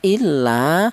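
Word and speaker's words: إِلَّا: Panjangnya satu alif atau dua harakat atau dua ketukan.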